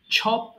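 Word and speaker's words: chop: টুকরো করে কাটা ছপ তাহলে চ এর উচ্চারণটা ছ এর মত করবেন তাহলে এটা হয়ে যাবে ছপ টুকর টুকর শুরু করে কাটা ছপ ছপ ছপ আবার এটাকে অনেকে ভুল করে চপেড বলে ফেলে এটা চপেড হবে না হ্যা ছপ হবে ওকে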